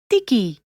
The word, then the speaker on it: Tiki: Try putting your tongue between your teeth when saying it. Tote, which means salt. Tiki, which means fetch.